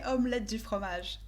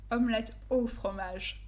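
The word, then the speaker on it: omelette au fromage: we never say this and we don't say omelet di fromage it's not french it's omelette or fromage every time i heard this omelet di homage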